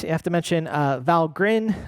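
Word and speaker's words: Valgrind: Um uh and with that you have to mention uh Val Grin uh importantly uh not val grind but valrin is the pronunciation from their website uh for uh memory leaks.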